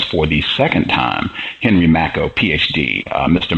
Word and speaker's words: Makow: I am Gus and congratulations for getting the pronunciation of my name correct all right I remember from from the first time you said like tobacco that was a easy